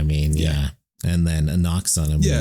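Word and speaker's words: Anck-su-namun: Noxanamun.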